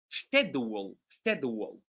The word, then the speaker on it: schedule: way it's written but in the United States mostly it's pronounced schedule like with a K instead of sh sound all right let me